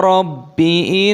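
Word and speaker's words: رَبِّ: Qala rabbi inni ta'awtu qawmi laylan wa nahara. Qala panjang, qafnya ada tanda alifnya mad tabi'i 2 ketukan. Rabbi tasdid, baknya ditekan.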